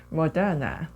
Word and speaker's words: Madonna: 원어민 발음 한번 또 들어보실까요? Madonna, 네, 모더나, 마돈나 소리의 진동이 좀 다르죠?